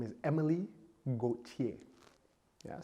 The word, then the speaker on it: Gauthier: Her name is Emily Gauthier.